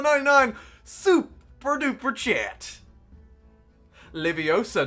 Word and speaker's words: Leviosa: 99 super duper chat leviosa not livio sar the greatest harry potter quote of all time it has to be said have to put the correct emphasis on the correct syllable syllable emphasis is very important um let's found this